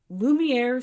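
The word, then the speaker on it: Laumeier: okay we have the science center versus The Lumiere Sculpture Park I'm sorry I didn't know that was pronounced Lumiere yeah we had I always saw I always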